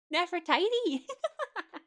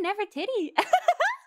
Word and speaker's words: Nefertiti: i'm sorry i'm sorry how do you say it not for tidy not for tichi never titi not for teething now for dinner wait i was right the first time it's actually never titty okay when she was